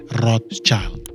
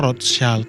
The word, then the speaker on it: Rothschild: Nah, banyak orang bilang Rothschild itu salah, itu English pronunciation. Karena dia dari Jerman, sebenarnya Roth itu artinya red dalam bahasa Jerman. Jadi orang bilangnya Rothschild.